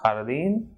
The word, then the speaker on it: jardín: J is called Jota and it is pronounced a bit strongly aspirated H. For example, like H. So examples in Spanish are jardín, ajo, Juan.